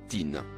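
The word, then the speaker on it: طين: mot en surbrillance bleus il se prononce à tin il désigne couramment l'argile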